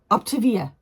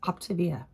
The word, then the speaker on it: Optavia: I have to apologize because I always say it wrong. Optavia. That's what it is. Optavia.